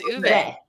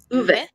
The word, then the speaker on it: Ove: The letter O is pronounced oo, as in ooh la la, and the E at the end is a soft E. So it's ooh. It is Uwe. Uwe.